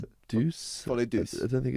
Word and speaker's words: Folie Douce: Folie Douce, is that how you pronounce it? Deuce? Folie Douce. I don't think it's a douche. Folie douche.